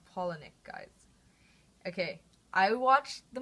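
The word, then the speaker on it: Palahniuk: being fight club by Chuck penck and that's pronounced penck guys okay I watched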